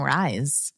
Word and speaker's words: Rhys: I love the name Rise. Yeah, RHYS.